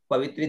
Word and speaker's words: पवित्रे: है ना, पवित्र स्थो, प वी और त्रे, उच्चारण पवित्रे। अब यहां पर देखिए त्र और नीचे र भी है ना, केवल त्र नहीं है, र भी है साथ में, तो पवित्रे, है ना,